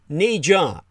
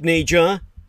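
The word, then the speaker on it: Ne Zha: Now, that's not fair to say, but the animated hit entitled Ni Jia, spelled N-E space G-H-A in the romanization from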